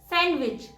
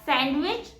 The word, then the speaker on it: sandwich: And the correct pronunciation is sandwich. It's not sandwich, it's sandwich because D is silent here.